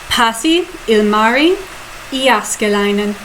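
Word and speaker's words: Pasi Ilmari Jääskeläinen: I'm going to do it with perfect Finnish pronunciation, just like you taught me. Pasi, Ilmari, Iaskelainen.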